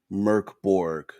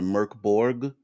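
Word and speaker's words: Mörk Borg: will let's see if Mork bore is Swedish for dark four and is pronounced Merc merkborg so even they at least maybe for us they they've kind of put it down to Merc Borg and that's from their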